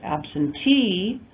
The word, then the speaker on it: absentee: Auction becomes auctioneer with the addition of the EER suffix, and absent becomes absentee with the addition of the EE suffix. So definite change in stress based on the addition of these derivational suffixes.